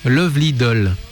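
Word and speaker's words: 愛乙女★DOLL: Ça s'écrit automé doll nous dit Auré mais en réalité ça se prononce Lovely doll parce que ça ça s'écrit à la japonaise mais en réalité il faut le prononcer visiblement à laisse d'accord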